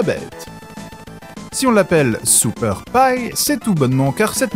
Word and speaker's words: Pi: Oui, ça s'écrit Pie, mais ça se dit Pie. À l'American.